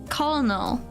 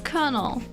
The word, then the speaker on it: colonel: up pronunciations, you know, like the word kernel. I always read it as colonal, right? But it's colonel, not colonel. So, I guess it's Colonel, but I'm like, why